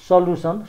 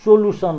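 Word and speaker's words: solution: एसओएलयुटिआइओएन सल्युसन, सोलुसन होइन सल्युसन।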